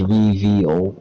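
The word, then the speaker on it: Reveil: It's R-E-V-E-I-L. It's Reveal, but it's like spelled like it's supposed to pronounce evil or something.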